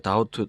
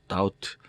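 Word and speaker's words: doubt: 의심 그 의심하다 그 다우트 다우트 에서 따 5t 깊이 이거는 묵음 입니다 바람 안 되죠 다우트 확신에 하지 못해서 의문이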